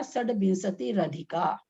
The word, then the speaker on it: षड्विंशतिरधिका: यहाँ षड्विंशति ही प्लस अधिका है शब्द, संधि होकर के विसर्ग का र बन गया, अधिका का अ उसमें मिल गया, तो उच्चारण हो गया षड्विंशति रधिका।